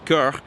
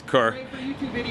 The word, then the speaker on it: Coeur: I mean, if you're gonna actually be correct, it's Coeur for the French, but nobody pronounces it that way, it's Coeur.